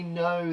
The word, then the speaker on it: know: This is no as in I know the answer. Now, this is really sneaky because no has a silent k in.